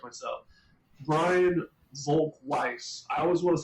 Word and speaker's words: Brian Volk-Weiss: company and Brian uh I always want to pronounce his name the German way but he does it so have to always correct myself Brian Volk Weiss I always want to